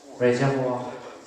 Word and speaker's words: reservoir: You should learn it because this is originated from French. My reservoir, I'm sorry. Reservoir. Nghe see? Có 3 chữ R trong từ này. Tiếng Pháp nó phát âm rất khó.